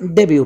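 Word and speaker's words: debut: पढ़ते हैं जैसे डेब्यू यह फ्रेंच वर्ड है इसमें टी साइलेंट है इसलिए इसे डेब्यू पढ़ रहे हैं और इस वर्ड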